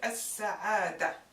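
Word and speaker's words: السعادة: represents the fatha, and the ta marbuta, the ta abta, we don't even pronounce it. So this is as-sa'ada.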